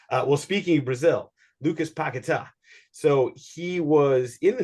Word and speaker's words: Paquetá: um hopefully I'm pronouncing I would have normally said paquetta but or whatever but you know it sounds like pakita is the way to say his name so he uh was